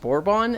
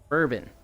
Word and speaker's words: bourbon: No, I definitely said borbon and I was like, why did I say it like that? That's crazy wrong sounding. Bourbon. Next time you say it, it's bourbon.